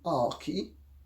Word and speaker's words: Archie: mean it's just ludicrous Archie is supposed to be our key yes and the in